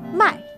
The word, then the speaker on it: 卖: they share similar pronunciations, yet different tone. So, 买 that's to buy. 卖 that's to sell. 卖 Uh-huh. So,、 perfect. That's the first, no, the fourth tone.